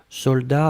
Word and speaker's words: soldat: Je regarde, vous l'avez bien écrit, attention save the best, soldat avec un T final, on ne prononce pas le T, mais logiquement il devrait être là, d'accord?